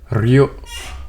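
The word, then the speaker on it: Rioja: How do you even Bro, how do you even like what do you call how do you even like pronounce this word? Hold on. Rioa, huh?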